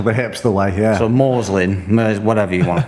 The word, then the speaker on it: Morezlyn: And the one that I made up just by juggling loads of letters up, More Reslin. More Reslin? Well, it's spelled Morezlyn. Oh, God, okay. the hipster way, yeah. So Morslin, whatever you want to call it.